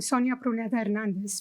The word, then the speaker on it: Sonia Pruneda-Hernandez: You will hear me also always, I'm Sonia Pruneda Hernandez because that's the way that it's pronounced. Can I switch it? Sonia Pruneda Hernandez, it doesn't sound right to me.